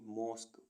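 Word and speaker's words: mosque: मीस guarantee M ओ एस क्यू यू ई मॉस्क मॉस्क मीस मस्जिद जी यू ई एस टी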